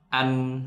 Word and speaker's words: anh: For the an in the north, they pronounce like this, anh.